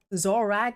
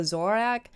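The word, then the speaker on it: Zoroark: congratulations on the zorak zorrack is how you say it i always call it zorak and everybody grills me on it no pokemon pokemon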